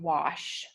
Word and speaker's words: wash: So when there's an A that comes right after a W, it says, like in war or wash, it says a short O sound. It's easier to hear it in wash, wash, like octopus.